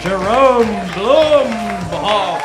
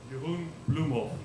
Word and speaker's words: Jeroen Bloemhof: Oh, Jerome Blumhoff, everybody. Roman, what do you think? Jerome, could you give us the correct pronunciation of your name one more time? Jeroen Bloemhof. Jeroen Bloemhof.